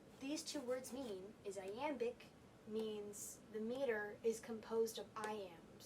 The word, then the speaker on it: iamb: But this is written in iambic pentameter, which means it uses iambs. One iamb, the B is silent, is unstressed, stressed.